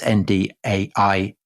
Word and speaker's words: Ndiaye: man called Boubacar Joseph Ndiaye, and um I hope I pronounced that right. I may not have done. It's Ndiaye.